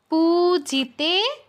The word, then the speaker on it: পূজিতে: পতি সদভা পতি সদ্ভাব পূজিতে পু দীর্ঘ তে দীর্ঘ পূজিতে পরমেশ্বরী পরমেশ্বরী ইন্দ্রানীপতি সদভা